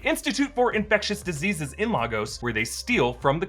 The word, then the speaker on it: Lagos: Now, I know the correct pronunciation is more like Lagos, but they pronounce it Lagos multiple times in the movies, so who am I to correct the sacred MCU?